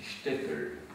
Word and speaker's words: shtetl: Oui, le S se prononce ch, parce que c'est du yiddish, shtetl. Le S c'est ch, comme en allemand.